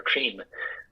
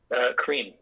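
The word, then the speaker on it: Крим: statements about Crimean, being, or Krim, as they pronounce it, right? Still being part of Ukraine, or being reconnected to Ukraine, or whatever. So how do they pronounce it, bro? Krim. Oh, just Krim.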